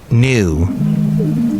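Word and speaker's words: Nue: And that's spelled N-U-E. New.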